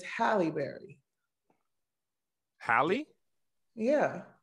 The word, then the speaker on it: Halle: Why do you say Holly Berry when it's Halle Berry? Halle? Yeah. It's Halle? It's Halle, not Holly.